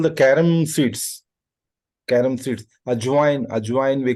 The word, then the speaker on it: ajwain: Ajwain we call it in Hindi.